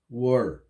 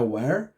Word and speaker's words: were: Tomar um pouquinho de cuidado aí com a pronúncia, né? Não é where. Where é uma outra palavra em inglês, né? Que significa onde, em português. Nesse caso é um e mais fechado, were.